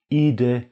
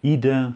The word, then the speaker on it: Idę: Idę na długi spacer. Beim Wort Idę habe ich aufgrund der Endung E mit Häkchen zwei Aussprachemöglichkeiten, Idę oder Idę.